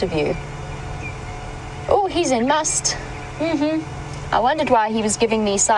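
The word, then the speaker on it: musth: an elephant bow and must for those of you unfamiliar with the terminology we using to spell it it is m u s t h must but it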